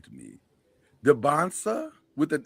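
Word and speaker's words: Dybantsa: You just call him DeBonsta. To it. Is it DeBonsta? DeBonsta. Is that right? That doesn't feel right to me. DeBonsta with an S?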